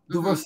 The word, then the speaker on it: Duverseau: Duverseau? Duverseau.